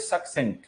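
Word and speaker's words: succinct: होता, तो आंसर है सक्सेंट। इसकी प्रोनाउंसिएशन होती है सक्सेंट। पहले वाला सी जो है उसकी प्रोनाउंसिएशन का है, दूसरे वाले सी की प्रोनाउंसिएशन सा है।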